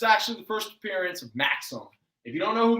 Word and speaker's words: Maxam: It's spelled M-A-X-A-M. It's actually a character. Okay. It's the first appearance of Maxim with an A-M, who is a time traveler